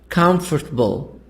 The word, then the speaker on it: comfortable: here this is stressed in the beginning which is silent interesting e e silent interesting we say interesting don't say interesting interesting comfortable all silent comfortable separate separate asylum i don't